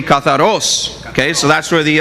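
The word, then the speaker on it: καθαρός: Katharos. Okay? Well, the accent is on the O, so it'd be katharos.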